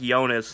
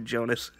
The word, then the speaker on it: Jonas: Oh, yeah, your J's are Y's. I forgot. Yeah, your name is literally pronounced Jonas in Swedish, but I always fucking call you Jonas. I call you the American version.